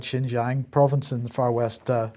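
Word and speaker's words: Xinjiang: saying here that they're talking about the the shinjang effect pronounce that right shinjang province and the Far West China which is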